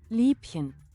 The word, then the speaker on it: Liebchen: How do you pronounce it? Liebchen.